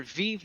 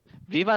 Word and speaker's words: Vive: Viva la Révolution or Vive la Révolution. Which one's the French? Second one's French, first one was Spanish. So vive.